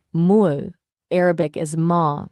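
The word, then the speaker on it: 물: In Korean, it's Mur, pronounced Mul.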